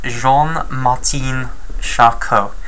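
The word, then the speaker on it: Jean-Martin Charcot: okay and he is Jean Martin shako and you have to say this in a French accent okay right I think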